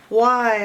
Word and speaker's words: why: WH makes the wh digraph. Wh, wh. And Y can make the I sound. I makes the I sound, but Y can make the I sound as well.